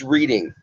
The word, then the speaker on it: Reading: It's Reading, like the railroad, I tell everybody, okay? Or reading a book.